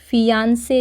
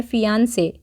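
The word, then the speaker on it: fiancée: मंगेतर है तो हम फियांसे ही बोलेंगे उसको बट उसकी स्पेलिंग थोड़ी चेंज होती है प्रोनंसिएशन सेम होता है ठीक है शी इज माय फियांसे पर यहां पे एफ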